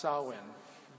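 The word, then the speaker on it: Samhain: that's another spelling yeah and and but it's pronounced salwin and and it's the it's the time between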